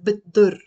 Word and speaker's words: بتضر: They said, بيقولوا, they say, كترة الأكل بتضر, but we pronounce it as بتضر, بتضر, like kind of you're merging the T and the dot, بتضر.